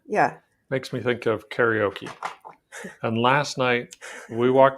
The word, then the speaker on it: karaoke: it's kind of okay when you say it in japanese it's not karaoke it's kind of but we're not in japan so it's karaoke here okay great um and